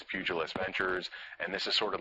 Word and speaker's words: Pugilist Ventures: with the president he wasn't sure how to pronounce the name and I said it's pugilist ventures and this is sort of like the derivation